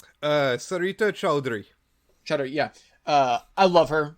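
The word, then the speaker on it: Sarita Choudhury: I believe her name is pronounced Sarita Chowdhury. Sarita Chowdhury.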